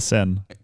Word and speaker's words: Seine: It's called the Seine. What? Yeah, the Seine. That's crazy. But it's spelled like Seine.